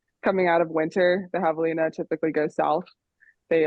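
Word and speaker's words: javelina: it's very unique so it's well first it's pronounced Havalina withina pardon yeah looking like jalapeno Havalina there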